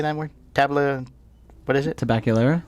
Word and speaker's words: Tabacalera: Tabacalera? Tabacalera, thank you.